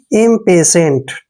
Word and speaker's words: impatient: और देखिए TIENT, जब भी ये TIENT इकट्ठा आता है, देखिए TIENT, इसको अगर इकट्ठा आता है तो इसको हम पढ़ेंगे सेंट। क्या पढ़ेंगे? सेंट। देखिए सेंट का उच्चारण आएगा, यानी कि इम्पेशेंट, ठीक है ना।